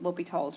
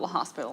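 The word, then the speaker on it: L'Hôpital: gonna use something called l'hopital's rule it's French and probably saying it wrong but it's not l'hospital I know that okay I can know that much it's not right yeah okay so what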